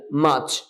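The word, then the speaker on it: March: ব্যবহারটা হয়েছে February মার্চ মার্চ আর পরে আছে সুতরাং এই আরটা উচ্চারিত হবে না মাচ এপ্রল এপ্রল মে এইযে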